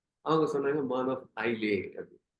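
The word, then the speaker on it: Isle of Man: அவங்ககிட்டயே போய் சொன்னேன், நீங்க வந்து உங்க கண்ட்ரி எப்படி ப்ரொனவுன்ஸ் பண்றீங்க, ஐ வாண்ட் டு நோ. அவங்க சொன்னாங்க மான் ஆஃப் ஐலே அப்படி.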